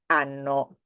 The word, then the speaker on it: hanno: Verbo avere, as you know, there is the H, in Italian H, but it is not pronounced.